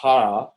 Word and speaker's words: Jara: It's actually pronounced Jara, a Chilean singer.